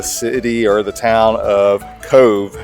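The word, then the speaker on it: Cobh: Uh they don't have the letter V in the Gaelic language, but the BH when put together makes the V sound.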